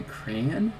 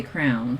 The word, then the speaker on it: crayon: yeah crayon and crayon so basically making it two syllables there's a chance you're